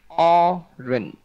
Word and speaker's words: orange: Âm trọng âm của nó rơi vào âm đầu, nghĩa là âm đầu chúng ta đẩy cao lên là nó sẽ thêm nhiều sắc vào âm đầu.